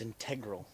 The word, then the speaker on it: integral: You want to talk about integral or integral tenons? It's integral. That's how it's spelled.